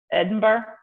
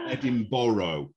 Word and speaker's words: Edinburgh: can say this one my brain says edinburgh is that again edinburgh perfect yeah all right you got it right yeah you're the first american to get that right that i know that's my british television watching yeah because most most americans will say edinburgh or edinboro edinboro they might say oh